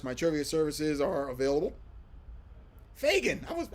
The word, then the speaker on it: Fagin: Fagin. I was right the first time. No, I was wrong the first time. Fagin, correct answer. Or correct pronunciation, I should say.